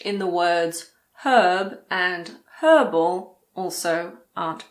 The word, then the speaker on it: herb: In American English, the H in the words herb and herbal also aren't pronounced. So in American English, these words are herb and herbal.